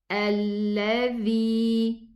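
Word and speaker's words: الذي: Hamza fatha, lam sukun. So it's alladhi.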